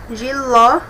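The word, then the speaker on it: jiló: Giló, o ló tem até um acentinho aqui, me indica que é a sílaba mais forte, o ló, oxítona, porque é a última.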